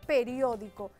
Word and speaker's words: periódico: Pronunciamos la palabra y decimos periódico. Periódico. ¿Dónde está la fuerza? En rio.